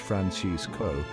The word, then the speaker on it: Francisco: The pronunciation follows the traditional Spanish Francisco.